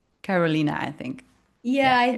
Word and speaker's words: Carolina: lived in the Netherlands for so long, so it's Carolina. This is how we pronounce it here, but for English speakers, it's Carolina, I think.